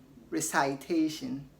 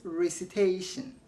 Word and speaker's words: recitation: Okay, what about, did you say recitation? That is wrong. It is recitation and not recitation. It is citation, not citation. Okay, we mostly mispronounce it because of its verb form, which is recite.